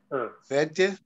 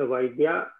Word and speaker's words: वैद्यः: For home is द वैद्य giving medicine एकवचन द्विवचन बहुवचन एंड you have to pronounce this विसर्ग also it's नॉट वैद्य इट्स वैद्यः उत्तम वैद्यः महोदय एक प्रश्न this नानकम Why is it Natvam there?